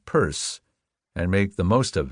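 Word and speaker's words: Pierce: She had one president, pronounce him Purse, and make the most of it for better or worse.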